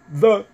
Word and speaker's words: the: T'as remarqué, c'est dur pour les Français de prononcer le TH. The, mets la langue sous les dents, the.